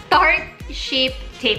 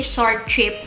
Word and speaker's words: Tarte Shape Tape: When I saw this concealer, I had to try it, and it's the I can pronounce it. The Tarte Shape Tape. I always say short tape, but it's a Tarte Shape Tape concealer.